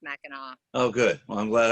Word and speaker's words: Mackinac: It's Mackinac. Yeah, it's spelled Mackinac, but it's pronounced Mackinac.